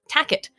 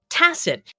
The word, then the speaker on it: tacit: The entire time for 3 weeks, Daryl didn't know how to pronounce the word tacit, as in tacit agreement. He kept saying, "Do you have a tacit agreement?" But he kept pronouncing it tacket until this week.